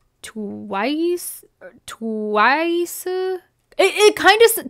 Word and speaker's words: TWS: name is twws but in Korean I believe it's pronounced like twice twice it it kind